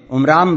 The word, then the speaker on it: عمران: ان دونوں کتابوں میں عمرام بتایا گیا ہے۔ قرآن اسی کا تلفظ عمران کرتا ہے۔ موسیٰ علیہ السلام کی